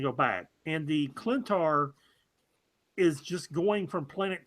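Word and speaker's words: Klyntar: You got to tell me how to pronounce this creature. The Clintar. Clintar Venom.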